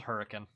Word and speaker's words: Hurricane: Spelled hurricane, but if you pronounce it that way, folks here will tell you you're wrong. Which... You know, fun fact, there was a time when it was actually spelled K-I-N.